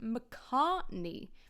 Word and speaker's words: McCartney: the French do in there's also a long a the start vowel in the word mcartney so that sounds very different mney mney then M very different okay second thing is word